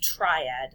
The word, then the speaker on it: triad: Number 1, how many notes are in a triad? That word is pronounced triad. Think about the word try. It means 3.